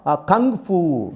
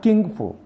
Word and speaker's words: Kung Fu: He has mastered, he has trained Aikido, and his next goal, next aim, to learn Kung Fu, not King Fu or Kung Fu. Kung Fu. This is the phonetics.